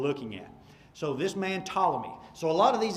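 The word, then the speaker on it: Ptolemy: to have one named tmy so the p is silent tmy the subord ordinate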